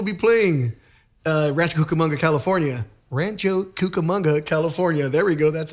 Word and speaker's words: Rancho Cucamonga: Rancho Cucamonga, California.